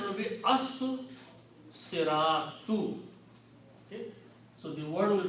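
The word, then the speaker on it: الصِّرَاطُ: So when you put al, two dhammas change into one, and this becomes al siratu. Also, the swad here kills the sound of lam, and you have to pronounce the swad twice because this is a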